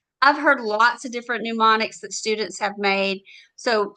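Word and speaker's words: mnemonics: Now we can have different uh they're called pneumonics. So the m is silent and these are ways that you help remember it.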